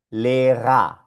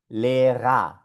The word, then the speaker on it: Lehrer: Esto acá se pronuncia Lehrer, Lehrer. Y esto acá se pronuncia Vasa, Vasa. Suena solo como A.